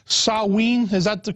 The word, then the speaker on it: Samhain: know the real name I think was called sawe is that the correct the correct pronunciation yes it was called Sinn depending upon if if depending upon Gaelic or